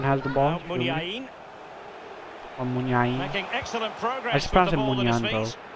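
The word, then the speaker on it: Muniain: Munyan has the ball. Munyain. Making excellent progress. I just pronounced it Munyan, though.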